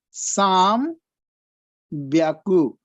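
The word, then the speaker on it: 三百: But if it is 300, they have a special pronunciation, that is Sam Byaku. Hyaku will become Byaku in only in the case of 3.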